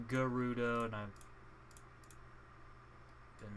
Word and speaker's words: Gerudo: i had put here is placeholders apparently it's pronounced garuda and i'm been mispronouncing it my entire life but i still say gerudo because it's it's pronounced jerry and uh germany